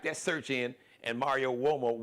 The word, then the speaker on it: Uomo: Just type that search in, and Mario Uomo. Uomo is UOMO, so it's pronounced like with a W sound, wah. But it's an Italian word.